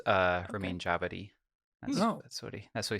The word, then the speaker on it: Ramin Djawadi: Apparently, it's pronounced Ramin Djawadi.